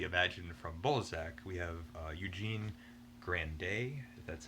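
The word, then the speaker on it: Eugénie Grandet: you would typically imagine from bozak we have eugene grande that's how you pronounce it and now these are the kind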